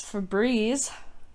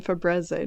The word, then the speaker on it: Febreze: I mean, I'm gonna just keep saying Fabreze now if they. It's And if you want Febreze. people to pronounce it right, you would spell it Eeze.